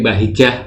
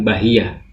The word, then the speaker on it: Bahijah: bahijah Attaubah iya baik-baik bukan ejaan lama J jadi yee bukan sengaja dibuat j&c kalau j&t jalan lama pasti dengan DC hijjahya bahijah ini bahijah murni bahijah bukan bahiya Apa yang hendak anda